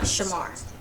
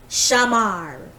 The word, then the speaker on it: Shamar: His name is not Shamar. It's Shamar. The way my mother says it.